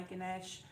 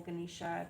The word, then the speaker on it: Ganesh: feathers I've got my Ganesh or ganisha depending upon where you are in the world and how you say it I've got a lot